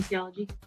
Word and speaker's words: kinesiology: She's currently going to the University of Nevada, Las Vegas to get her kinesiology degree. Did I say it right? Yeah, kinesiology.